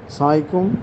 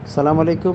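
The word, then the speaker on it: السلام عليكم: এজন্য সালাম পূর্ণ দেই সালাম আলাইকুম আসসালামু আলাইকুম এভাবে না আরিফটা উচ্চারণ করতে হবে কেউ যদি আসসালামু আলাইকুম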